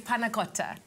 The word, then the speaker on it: panna cotta: Firstly, the dish is called, the correct pronunciation. Yes, is panna cotta.